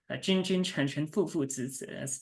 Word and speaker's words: 君君臣臣父父子子: replies with this sort of cryptic phrase almost, 君君臣臣父父子子, that's how you pronounce it in Mandarin.